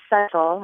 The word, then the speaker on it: subtle: I guess I say subtle and she says more subtle but it got me thinking about the word why does it have this silent be what are its Origins